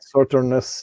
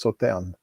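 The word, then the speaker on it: Sauternes: When it's after E, you don't pronounce the S. So it's not Sauternus like some say, it's Sauterne.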